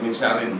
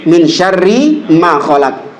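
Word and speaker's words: من شر ما خلق: Jadi dia ketambahan nun bacanya min syarin min syarrinya kan min syarri min syarri ma khalaq dari kalau kalau yang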